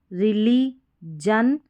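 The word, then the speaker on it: religion: तो यहाँ पर भी देखें, रिली, जस, रिली, जन, पी, जन। तो GIOUS को जस पढ़ेंगे, GION को जन पढ़ेंगे, यहाँ पर भी जन, रिलीजस, रिलीजन, पिजन। तो इस तरीके से पिजन, पिजन करके इसका उच्चारण करेंगे।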